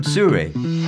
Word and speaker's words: Sirui: I'm pleased to be able to show and tell you about a brand new development from Sirui. And that's how it's pronounced, I checked.